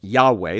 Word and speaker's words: Yahweh: and might now remember the name of god is pronounced yahweh that's the best i think we can come in our modern times and it means he